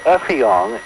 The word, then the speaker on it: Effiong: Our friend Effiong, and it's pronounced with an F, not an S. I made the mistake because his English is excellent, but there are little things that slip through sometimes. Effiong Sam called me this afternoon.